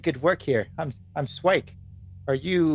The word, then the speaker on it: Swike: Ah you did good work here I'm I'm swike are you like just jobbers you know for hire all sorts out of character what did he say his name was swi swi yeah swike s wi I ke oh swike okay um